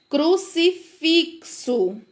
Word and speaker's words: crucifixo: Crucifixo. Falem bem devagarinho. Crucifixo. Vejam o som do CS que aparece.